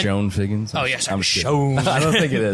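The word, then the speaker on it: Chone: Oh, yes, I'm Sean. I don't think it is. Was it but Sean? It's like Yeah. C-H-O-N. C-H-O-N-E. I think he pronounces it Sean.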